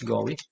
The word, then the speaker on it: GUI: the graphical interface or what we we pronounce this as go graphical us interface this